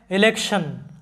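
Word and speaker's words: election: এরপরে একইভাবে দেখো যে ইলেকশন, ইলেকশন লক্ষ্য করো যে ELE, এখানে তোমরা জানো যে শব্দের শুরুতে ই থাকলে ই এর উচ্চারণ হয় ই।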